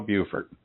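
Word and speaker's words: Beaufort: that gets us to yeah no bufort yeah that's how the ladies pronounce it when I'm talking to them Buford so that gets us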